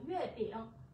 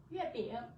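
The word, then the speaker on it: 月饼: Từ này chúng ta đọc là yue bing. Yue bing.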